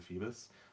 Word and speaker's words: Feebas: I think it's Feebas, but I've heard people pronounce it Phoebus, so I'm fine with whatever.